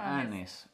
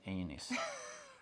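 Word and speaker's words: anise: i wonder what uh annie's yeah it's not aenes i can't remember which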